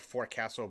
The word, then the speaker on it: forecastle: You're gonna hear it's spelled forecastle, but it's pronounced forecastle.